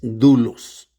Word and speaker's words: doulos: La palabra griega para esclavo es dulos. Dulos. Luego se escribe doulos. D o u l o s, pero se pronuncia dulos.